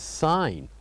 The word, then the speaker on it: sign: the fourth one is sign where g is silent and we have right